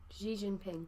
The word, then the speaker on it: Xi Jinping: keep want to say G is G Jinping Xi Jinping yeah yeah it's the second largest economy in